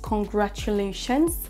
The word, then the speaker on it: congratulations: Attention, on a bien un S, congratulations, à la fin qui doit être prononcé.